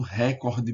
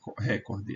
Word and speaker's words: recorde: dizer ah é o recorde mundial não é recorde é recorde mundial recorde rec corte repórter